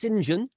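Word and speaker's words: St John: to legend by uh one of the sinjian family spelt saint john but pronounced sinjian and one of them oliver sinjan was one of the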